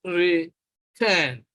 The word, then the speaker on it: return: Now, listen to it, return. You will notice that the stress is on the second syllable, on the syllable turn, return.